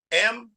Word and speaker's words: Mahir: M-A-H-I-R. How do you say that? So I looked at her and said, excuse me, ma'am. I said, it's pronounced Mahir.